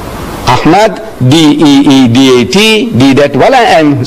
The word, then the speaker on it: Deedat: So I tell her, my name is Ahmed Deedat. She says, spell it. So I started spelling it. A-H-M-E-D, Ahmed, D-E-E-D-A-T, Deedat.